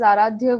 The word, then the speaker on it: Aradhya: yeah most welcome so you can always say my name is aradhya with an a in the end that's how people will